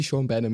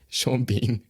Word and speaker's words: Sean Bean: remember his name, I was like, oh, maybe Sean Benham is one of these random people. But yeah, Sean Bean.